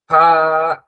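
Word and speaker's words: فاء: এখন আমরা ত, জ, আইন, গইন শেষ হলো, এবার আমরা ফা এর উচ্চারণ করব। ফা এর উচ্চারণটার মধ্যে জিহ্বার কোনো ব্যবহার নেই। ফা এর উচ্চারণটা হয় সামনের দাঁত, সামনের দুই দাঁত নিচের ঠোঁটের পেটের মধ্যে লাগবে, নিচের ঠোঁট, নিচের ঠোঁটের পেট, অনেকটা এরকম হবে।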